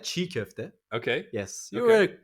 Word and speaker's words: çiğ köfte: So I think if I'm not mistaken, I think the C with a little thing under it, the goatee, is a J sound, right? Not so much. I No? would say ch. Ch. Ch. So is it chinkofte? Ooh, almost there. Yeah, çiğ köfte.